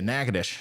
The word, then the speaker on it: Natchitoches: So Natchitoches, gotcha, Natchitoches.